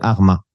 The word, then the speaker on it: Hurma: de la ville de Arma, que l'on prononce Hurma en arabe.